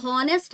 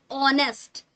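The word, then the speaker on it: honest: हो है ना उसमें एच लगा हो परंतु एच ना बोला जाए मतलब वो क्या हो साइलेंट हो जैसे एन ऑनेस्ट हम यहां पर नेस्ट नहीं बोलेंगे ये गलत तरीका होगा उच्चारण का क्या बोलेंगे यहां पर ऑनेस्ट है ना बोलने में क्या आ रहा है ओ सॉरी ऑनेस्ट बोलते है ना नेस्ट तो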